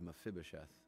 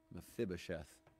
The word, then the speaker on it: Mephibosheth: Or think of Mephibosheth. Kids, remember how to pronounce that one, okay? Mephibosheth, the grandson of Saul, would have possibly been